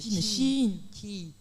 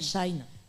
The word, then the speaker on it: Shein: on peut même acheter, est-ce que ça se prononce comme ça en chinois? C'est Chi. Pas Shine. Pas Shine, ni Shein, c'est Chi.